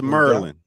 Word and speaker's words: Maryland: that correct Maryland yes yes it's Merlin Maryland Merlin that's how you say it shout out to